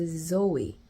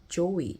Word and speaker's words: Zoe: 그 조이가 저한테 와서 My name is Zoe, not Joey 이러는 거예요.